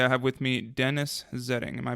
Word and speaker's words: Zetting: Today I have with me Dennis Zetting. Am I pronouncing that correct?